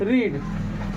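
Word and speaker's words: read: उसके बाद देखो, आप पढ़ चुके हैं, यहाँ पे क्या हो जाएगा, यू, देखो यू हैव रीड, लेकिन रीड नहीं बोलेंगे, रेड बोलेंगे।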